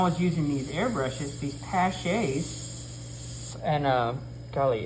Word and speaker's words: Paasche: using these airbrushes, these Paches, and, golly, it's, I'm gonna spell it for you. All right, it's Paasche. It's odd, you know. That sounds like it comes from a different country.